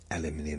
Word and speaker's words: aluminium: Aluminium is the correct way to say that.